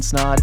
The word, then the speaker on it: Snaadt: My name is Snaadt. It rhymes with odd, and you're listening to the Rhymes with Odd podcast.